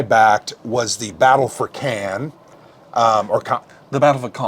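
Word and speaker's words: Caen: Battle of Khan sorry I want to say it like a redneck Ken's the film festival in the South I know yeah not the same thing um but it's the Battle of Khan right and this also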